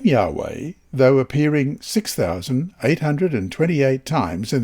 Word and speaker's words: Yahweh: capital w capital h y h w h pronounced yahweh and translated as lord in capitals in the